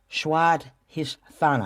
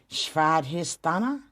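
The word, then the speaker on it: Svadhisthana: but it's funna um i didn't say that right schwad thana i'm gonna spell it for you sv a d h i s t h a n a schwad histana working on it okay but that is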